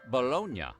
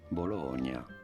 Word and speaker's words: bologna: Might be an anglicized version of the city's name. Bolognia. Bologn. Other theories site early Italian Americans pension for shortening or changing the pronunciation of Italian words as they imported them into American English dialect. Take for example riot for ricotocute for prochto. It could be that bolognia was shortened to balone and eventually the y